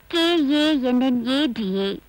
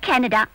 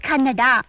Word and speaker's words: Kannada: K-A-N-N-A-D-A. Canada? It's not Canada. It's Kannada. Kannada.